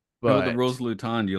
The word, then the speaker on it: Luton: and by his mispronunciation the actual town is pronounced Luton so Luton that's the town this is the planet fancy